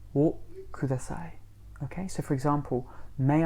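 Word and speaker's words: をください: Now the word for may I have is o kudasai. O kudasai. Okay, and we would spell that O and then a separate word, Ku ku da da sai. Sai.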